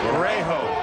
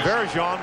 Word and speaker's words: Varejão: When they recruited him, they thought his name was Varejo. There you go. Varejo is the Spanish pronunciation of that particular spelling, and he pointed out